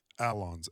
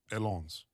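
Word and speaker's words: Allons: Uh And I'm going to It shows me how to pronounce them. Okay. Alon Alons? What does that mean? Alons, a l l o n s. Alons.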